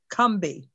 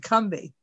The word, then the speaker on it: Combahee: come to know is pronounced correctly as Combahee, as if it has two syllables and no O. See, it's pronounced as if it spells C-U-M or K-U-M-B-E-E, Combahee.